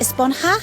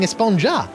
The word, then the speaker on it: Esponja: actually it's pronounced espanha with an h sound at the end really but we've all been saying esponja yes i know it's